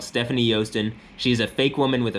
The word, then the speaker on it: Joosten: Stephanie spelled with an F and Joosten spelled with a J.